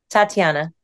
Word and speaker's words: Tatiana: she has a pretty name and I can't pronounce things so help me here say your first name Tatiana that's pretty second name say them both